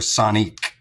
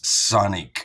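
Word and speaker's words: Sonique: S O N I quue E or Sonic, I guess maybe, is how you would pronounce it.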